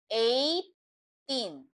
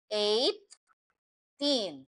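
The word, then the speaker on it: eighteen: So 18. So again, we pronounce it like 18. So we don't, it's like G and H is like silent word.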